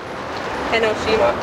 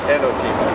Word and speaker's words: Enoshima: How did you say it's pronounced correctly? Enoshima. Enoshima. Enoshima. All right. Enoshima. I'm down here at Enoshima Island, which is in the Sagami Bay, close to Camp Zama, Japan.